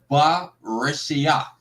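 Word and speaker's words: בְּרֵאשִׁית: Just like the word for in the beginning, it's ba reshia.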